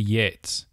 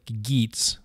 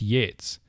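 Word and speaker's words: Geats: is from a tribe of people called the Yates it looks like geets but it's the the GE in old english is pronounced yeah so it's Yates though the story shows remarkable invention and artistic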